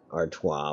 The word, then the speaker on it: Artois: Well, and in all honesty, Artois would probably be how you pronounce it no matter where you're from. It's just that I butchered it. Instead, I basically said Stella is Artois.